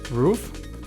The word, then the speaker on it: Rouf: here tonight uh as I'm speaking with rof am I pronouncing it correct it's rof rof okay I'm trying to make it sound very exotic I guess but thank you people do call me roof over okay well thank you for coming in